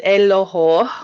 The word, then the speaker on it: Eloho: more about yourself all right my name is elohou which means prosperity and it's from the niger